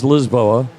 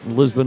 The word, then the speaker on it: Lisboa: And you know the a lot of people go, I'm going to Lisbon. It is Lisboa. You might as well say it right. Lisbon is the lazy way of the English way, but Lisba, beautiful city.